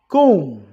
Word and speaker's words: comb: through g h silent comb be silent knife K silent soften